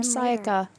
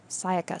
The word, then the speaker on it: Sayaka: so thanks yeah sighs OH I'd been think her name wrong the whole time Sayaka she wound up there Sayaka psychic I have to remember that Sayaka okay so the person